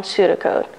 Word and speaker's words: pseudocode: Welcome to today's lesson on pseudocode, and that's pseudo with a silent P.